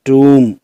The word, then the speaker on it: tomb: Next इसमें है बड़ा ऊ, जैसे TOMB, इसको हम पढ़ेंगे टूम, फूल, टूल, फॉर्च्यून, ट्यून।